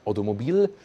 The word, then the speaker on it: Automobile: Big lettering, DS Automobile, like Automobile, when I say pronounce it in French, and number 7, that they make it once again a little bit more exclusive.